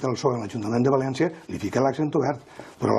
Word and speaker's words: Valéncia: Per tant, si els valencians, pel nord, des de Vinaròs, al sud fins a Crevillent, si la pronúncia general valenciana és València, quina ha de ser la grafia?